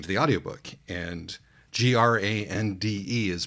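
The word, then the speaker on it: grande: the Audi book and g r a n d is pronounced grandi in Brazilian Portuguese so I was primed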